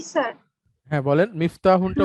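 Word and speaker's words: مفتاحٌ: হ্যাঁ বলেন, মিফতাহুনটা উচ্চারণ করুন। হাজা মিফতাহুন, এটি একটি চাবি। না, মিফতাহুন, হ্যাঁ মিফতাহুন, এরকম তাতে তাটা লম্বা করে বলতে বলতে হবে, মিফতাহুন, হ্যাঁ।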